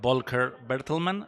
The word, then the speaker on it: Volker Bertelmann: I wanted to ask you about the score, the music by Volker Bertelmann.